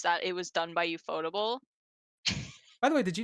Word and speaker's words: Ufotable: I'm like, Ufotable Um sounds so better. It slides off the tongue. UFO table sounds weird. yeah, Ufotable sounds really weird.